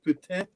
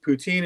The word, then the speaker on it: poutine: somehow but actually uh um poutine is actually pronounced putin it's not actually poutine is actually a little bit grosser it sounds grosser but that's what it's called um poutine is tourist food it's uh basically that's taco